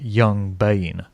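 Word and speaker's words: Yxng Bane: Then you've got artists like, I don't even know how you say this, but you're probably supposed to say it Young Bane. So it's spelled YXNG, Bane.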